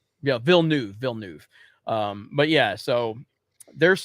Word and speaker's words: Villeneuve: sound the direction of denny is it dilly villanu is that how you say his name phenomenal uh vielnev yeah bill new villeneuve um but yeah so there's some good stuff